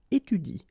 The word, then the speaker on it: étudie: So after another vowel, like here, for instance, you don't pronounce this okay? So in that case, if you want to pronounce it correctly, you should pronounce it like il étudie. Okay, so the last thing that you will pronounce will be the vowel I here.